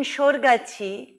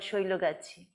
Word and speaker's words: Shoilogachi: he's making mistakes so he's written shorgachi for a place that's called shoilogachi again takes me two years